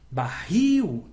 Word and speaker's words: barril: Então, barril, il é a última, é a mais forte, ela é uma oxítona.